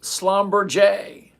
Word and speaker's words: Schlumberger: It's pronounced Schlumberger.